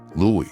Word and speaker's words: Louis: Louie is the French pronunciation of Louis and is commonly used in Louisiana family.